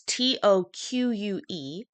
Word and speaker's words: toque: me I can say that's not how you spell toque Moon Fox but that's cute it's t o qu e and it's correct to say toque uh not beanie I know and